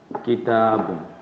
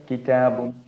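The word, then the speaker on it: كتاب: इसको अगर हम प्रोनाउंस करेंगे तो कलमुन, कंप्लीट प्रोनाउंसिएशन। इसको प्रोनाउंस करेंगे किताबुन, कंप्लीट प्रोनाउंसिएशन। लेकिन जब हम बोलते हैं, स्पीक करते हैं, ठीक है, तो हम क्या करते हैं, ये जो तनवीन इसको हम ओमिट कर देते हैं और इसके जगह सुकून कर देते हैं। तो क्या पढ़ेंगे, कलम, किताब।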